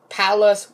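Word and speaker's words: Pallas: belt are cirrus vesta palace which rhymes with one of the most famous cities in texas which some people know if you guys aren't from texas then you should know dallas but i'm not trying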